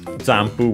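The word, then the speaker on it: ジャンプ: Jampu, we have seen it before, but it should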